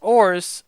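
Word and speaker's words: orz: The phrase has no set pronunciation. Some people are pronouncing it as ors, others ors, and others calling it the depression slump. I didn't even realize it. You traitor, orts.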